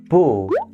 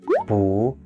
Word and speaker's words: 不: this one let's start so boo has two pronunciations boo and who and above being know they change depending on the word that they are incorporated with but we'll cover pronunciation